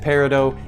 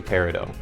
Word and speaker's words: peridot: Is it peridot? I'm understanding that both are acceptable pronunciations, but if we're being honest, if you talk to someone within the jewelry industry, someone that deals with gemstones, they're gonna say peridot.